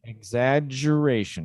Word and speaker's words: exaggeration: Okay, so exaggeration is not an irregular double consonant because we pronounced it the same way, the two G's. Exaggeration. Okay, so both of those G's have the same sound.